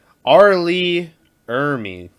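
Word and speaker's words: R. Lee Ermey: at this point or something no no no arlee ermey there you go it was like he had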